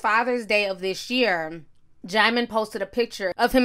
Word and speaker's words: Djimon: is next to come Digimon but the D is silent it's German Hounsou i'ma